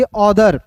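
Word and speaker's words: other: इसे ऑथर नहीं पढ़ेंगे। इसे क्या पढ़ेंगे? अदर।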